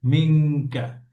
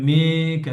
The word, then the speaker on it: منك: মিঙ্কা। এভাবে same thing, কফ এবং calf একই একই জায়গা থেকে উচ্চারণটা হবে, মাখরাজ থেকে উচ্চারণ হবে, যেমন মিঙ্কা, যেন মেকা না হয়।